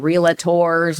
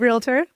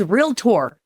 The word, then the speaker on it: Realtor: It's realtor. How do you not say it? Realtor. It's not realator. Like people add an a in there in the middle.